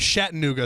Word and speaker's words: Chattanooga: I think Chattanooga well this is because we're we pronounced at different ways I think shatta new go sounds like cooler and more mysterious so okay interesting so